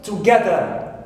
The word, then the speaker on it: together: In the second word, I have together. So, ga here is second syllable, which is stressed also.